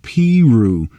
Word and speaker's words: Peru: Cole Porter was born in Peru, Indiana, pronounced Peru.